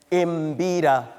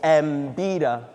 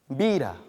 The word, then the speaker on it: mbira: Not with an imbira or mbira. You have perfect words that start with M in English, and yet somehow when it comes to this language, you add no. Mbira.